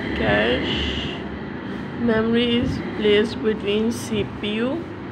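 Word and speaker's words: cache: number 9 इज कैच memory, कैच pronounce eight कैश, memory is placed between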